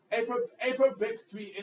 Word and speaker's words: APOBEC3: So once it gets into the human population, then the human antiviral response, specifically the ApoBEC3 enzyme, okay? Do you pronounce it ApoBEC? Yes, I got it. ApoBEC3 enzyme.